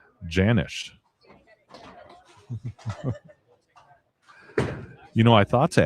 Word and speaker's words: Janisch: It's pronounced with a hard J. Janisch.